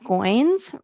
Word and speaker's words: Goins: It's called Real Artists Don't Starve by Jeff Goins, rhymes with coins, Okay.